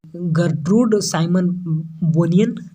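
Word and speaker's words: Gertrude Simmons Bonnin: चलिए द क्या जर्टिट्यूड साइमन्स बोनिन इनका नाम है, थोड़ा सा टेढ़ा नाम है, इसको अच्छे से प्रोनाउंसिएशन करना होगा जी। गर्ट्रूड साइमन बोनियन इनका प्रोनाउंसिएशन है, देख लीजिए अच्छे से।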